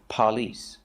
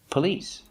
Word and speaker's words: police: to say pig police the stress is on the second syllable God don't remind me of it's not on the first syllable we do not say police it's police spoke the police okay